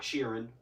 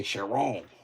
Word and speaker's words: Chiron: It's not Sheeran. It's not a Bugatti Ed Sheeran. It's a Chiron. Like Sharon, but like really French and stuff.